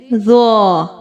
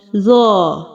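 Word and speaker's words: ظ: From here we pronounced Za. Read it with me. Za. Za. Za. Za has thick sound. If we don't make thick sound in this letter, Za change with letter Zal.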